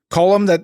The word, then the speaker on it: Colm: Colm, that's how they say it. They enunciate between the L and the M.